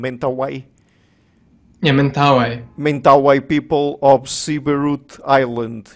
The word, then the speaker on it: Mentawai: Is that the correct pronunciation, Mentawai? Yeah, Mentawai.